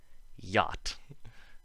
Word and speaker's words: yacht: So that brings us to the last sound, which is not a sound, the silent CH. And the only example is yacht.